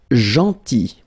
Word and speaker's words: gentil: Then gentil, so remember this final L is not pronounced, gentil, gentil, and it's nice or kind.